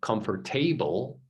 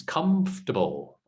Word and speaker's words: comfortable: so a lot of people say comfortable or comfort table or something like that now remember the pronunciation is comfortable so it's like you know come so not